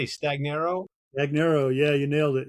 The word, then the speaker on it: Stagnaro: how do you say Stagnaro Stagnaro, yeah, you nailed it.